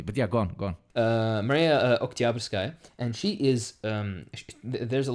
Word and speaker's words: Oktyabrskaya: by the name Maria Oktyabrskaya, which everybody's supposed to buy. I know that in Russian it's supposed to be emphasis on the middle syllable, so it's Oktyabrskaya.